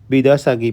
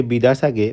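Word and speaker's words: Biidaasige: ফ্রন্টে, যার নাম হলো বিদাসাগি পার্ক। অনেকেই হয়তো এর বানান থেকে বিদাসাগে বা অন্য কিছু উচ্চারণ করতে পারেন, তবে এর সঠিক উচ্চারণ হলো বিদাসাগি।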